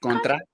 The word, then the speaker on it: Contra: Contra, yeah.